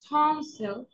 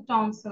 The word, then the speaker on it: টনসিল: হয়েছে, এটা বলি না, আসলে এটা কিন্তু টনসিল না, এটা হচ্ছে টনসল, এটা এস এল হবে, টনসল, টনসল, ইংলিশ উচ্চারণটা হচ্ছে টনসল, টনসল, টনসল, trauma, trauma, travel, travel, trace, trace.